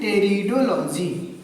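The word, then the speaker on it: pteridology: तो इसको बोलते हैं टेरिडोलॉजी। क्या बोलते हैं? टेरिडोलॉजी कहते हैं। ठीक, यहाँ पे पी साइलेंट है। पी क्या है? पी साइलेंट है। ठीक, पी साइलेंट।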